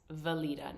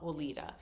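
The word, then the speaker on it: Weleda: don't know why and I know this about German that the W is pronounced with a V but it's valita not Vita so when I sent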